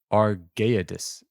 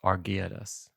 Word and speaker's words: Argeades: Argedes? Argades? Argeades. Oh, yeah. A R G E A D A S. Argeades.